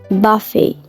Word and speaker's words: buffet: Terus buffet ini juga bacanya buffet.